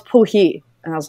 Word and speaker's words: Poirier: her last name is what we say in America is Poirier, which is P-O-I-R-I-E-R, which I'm sure in Canada is pronounced differently because of the French. But she was like, no, it's Poohee.